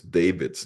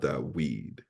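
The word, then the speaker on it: דָּוִד: So that the purists today will pronounce David's name, they will pronounce it Dawid. But in modern Hebrew, like I said, it changed from a wa to a v to a va. And so we pronounce David, not Dawid.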